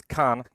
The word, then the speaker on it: Khan: Hey, my name is Khan. It's pronounced like grass of Khan from Star Trek, but I've never seen it.